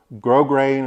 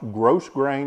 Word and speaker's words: grosgrain: Grosgrain is spelled Grosgrain, but it's not pronounced gross grain, y'all.